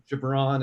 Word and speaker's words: Ghibran: very close very it's it's like LeBron with a G that's the easiest way yeah it's always so